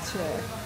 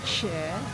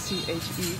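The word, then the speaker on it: chè: So I just ordered the caramel bowl, and the dessert name is pronounced Che. So Che. I thought Che because it's C-H-E, but they say Che.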